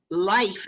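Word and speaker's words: Lyfe: So it sounds like life is spelled L-Y-F-E.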